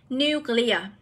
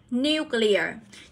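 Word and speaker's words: nuclear: sẽ được đọc là new clear new clear thì từ này chúng ta sẽ Nhấn vào âm 1 nhé Nhấn vào từ này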